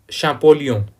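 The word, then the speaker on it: Champollion: लेकिन फ्रांस में अलग तरीके से शब्दों का उच्चारण होता है, तो इसका हिंदी में नाम भी आपको ऐसे लिखा हुआ मिलेगा, जा फ्रांसवा शैम्पोलियन, ऐसे इनका नाम में लिखा हुआ मिलता है।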